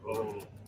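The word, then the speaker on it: Oulu: What is it pronounced? Olu.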